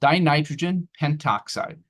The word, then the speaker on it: dinitrogen pentoxide: You could usually shorten that a smidge just to make it easier to pronounce. It's not a big deal if you don't do this. But this is called dinitrogen pentoxide.